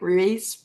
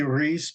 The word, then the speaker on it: Ruiz: saying your name right Ruiz Ru uh close enough um that's how they see it um supposed to be Reese but then people think it's spelled differently so it's fine um so